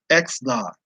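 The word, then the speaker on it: Xanax: teammates and roommates for drugging him with uh x naught a a i'm sorry i said it right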